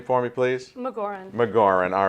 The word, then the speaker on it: Magauran: your last name for me please look Lauren McGauran all right it's it's a very it's a